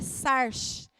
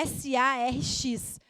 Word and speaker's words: sarx: E no grego, essa palavra é sarx, é S-A-R-X. Eu não sei se a pronúncia é bem essa, mas é sarx.